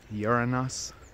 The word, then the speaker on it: Uranus: about the time that everybody started pronouncing uranus uranus sometimes i was here in uranus right about you hearing that uranus you're honest you're in us but like uranus by the